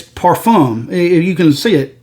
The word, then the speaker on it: parfum: just talk like that look that's how you pronounce it it's not it's not edu perfume or perfume it's perfume if you can see it p-a-r-f-u-m now i'm